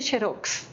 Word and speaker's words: xerox: Fotocopia, pero allá se dice xerox, que la X en portugués se pronuncia sh.